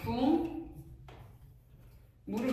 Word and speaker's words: 국물: 대표적으로는 이제 뭐 국물 국물 발음할 때 뒤에 있는 미음이 비음이 앞에 있는 기억에 영향을 줘서 기억을 이응으로 바꾼데. 기억을 이용으로 바꿨으니까 궁 물이 될 거 아니에요.